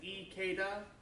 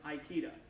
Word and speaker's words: Ikeda: One thing to remember in Japanese, all of the vowels are always pronounced the same. A is ah, A, E, O, and U. They don't have different types. So the name Ikeda is Ikeda, not Aikida. Occasionally, because I learned things wrong at first, I will occasionally pronounce Ikeda, Aikida. That's what I'm meaning.